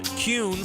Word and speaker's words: Kuhn: And now, I'm going to share the absolute right way to pronounce Kuhn flowers. It's Kuhn.